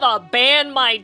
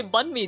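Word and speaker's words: bánh mì: victory sandwich place right they're just like can I have a band my tits I'm like what they meant to say bun me tit which is like the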